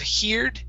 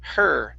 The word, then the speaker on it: heard: Instead of heard with an he sound, it's heard. Heard.